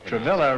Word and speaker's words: Travilla: with no no no travilla rhymes with Gorilla Noel pronounced what is